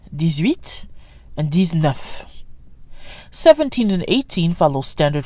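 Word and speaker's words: dix-neuf: DS and F is pronounced like a Z even though it's followed by a consonant these enough these enough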